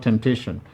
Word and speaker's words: temptation: have for example in the word temptation we have three syllables and therefore since the word ends with ion the syllable before the last is the one that is going to be emphasized te the same applies